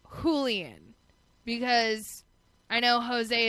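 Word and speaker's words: José: lien because I know Jose is spelled with a J but it's pronounced with an H and like when you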